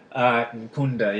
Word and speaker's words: Nkunda: Nkunda, yeah.